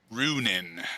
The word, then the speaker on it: Runin: Yeah, he'll be um, uh, we'll go with uh, runin. And we'll spell it like this. We'll spell it like this. Runin. It's almost like Ronin, but it's ru n i n.